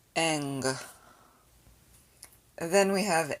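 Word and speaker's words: γγ: for the n sound but the gamma gamma together is pronounced eng then we have n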